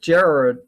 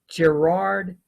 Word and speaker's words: Gerard: that i digress so this is a gerald excuse me i keep saying this guy's name wrong gerard manly hopkins yes that's his name spring and falls a